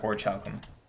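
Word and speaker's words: Orichalcum: I think it's pronounced Orchalcum. Yes?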